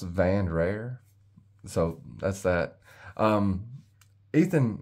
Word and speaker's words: Vandrer: out uh the the it's spelled v-a-n-d-r-e-r and it's pronounced van rare so that's that um